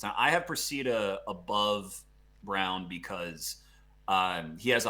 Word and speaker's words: Braun: actually think it's pronounced brown even though like everything in your brain is telling you to say brawn i've i've made this